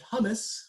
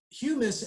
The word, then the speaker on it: humus: about this at school they like to pronounce it hummus which i always find funny but it is humus and when we do